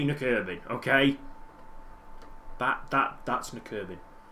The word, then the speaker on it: Nykøbing: Some of these teams I will know how to pronounce. The good thing is I've got nurbin totally wrapped up. That's how you say nurbin.